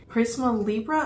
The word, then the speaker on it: Prisme Libre: packaging this is the Givenchy Prisma Libra I think is how you pronounce it it's spelled prisme Libre but I don't know anyways a very cute